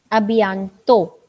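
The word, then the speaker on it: à bientôt: सी you soon अभियांतो. Last T is again साइलेंट.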